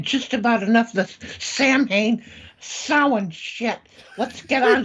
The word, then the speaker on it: Samhain: pronounced Samhain.